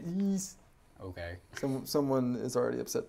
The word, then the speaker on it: Ys: i'm also playing yes seven years you have to say ease okay someone is already